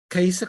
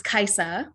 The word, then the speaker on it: Kaiser: how wonderful yes oh caissa hi did i i probably said your name wrong uh that's okay it was close it's kaiser kaiser hi um and it's also it's actually a scandinavian name um just like me